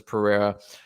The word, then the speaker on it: Pereira: start with Israel versus Pereira uh or pajera I've heard it pronounced both ways but I'm pretty fascinated